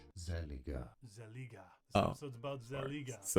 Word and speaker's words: Zellij: It's called Zellij.